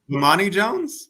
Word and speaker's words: Bomani Jones: now I feel like I'm a butcher his name, but but the dude Jones, Bohami, Bomani Jones? yes, how you say it now? Bomani Jones?